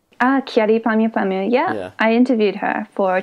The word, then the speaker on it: Kyary Pamyu Pamyu: this podcast now you've met what's-her-name I always mispronounce her name cha D P mu P mu right Kyary Pamyu Pamyu yeah I interviewed her for Tokyo girls collection